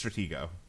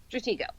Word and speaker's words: Stratego: It's Stratego. Stratego. Okay. Yeah. I've heard some people pronounce the G as a J for some reason.